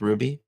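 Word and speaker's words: RWBY: Who's uh Ruby is a anime? You mean RWB Y is pronounced Ruby?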